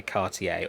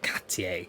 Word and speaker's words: Cartier: And of course the design has been made famous by Cartier, or Cartier, depending on how you pronounce it.